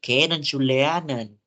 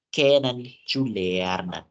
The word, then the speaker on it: kennenzulernen: Karena biasanya huruf Z dalam bahasa Jerman itu pelafalannya itu seakan-akan dengan huruf C. Jadi bukan kennenzulernen, tapi kennenzulernen. Ya, jadi huruf Z itu kayak C bacanya.